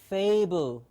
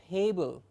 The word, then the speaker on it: fable: The first word that we have here is fable. F-A-B-L-E. Fable. So for us teachers to correct a student who's mispronouncing this sound or who does not know the target sound and is maybe saying pable or fable.